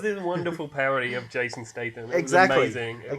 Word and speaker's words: Statham: Did I say his name wrong? Jason Statham.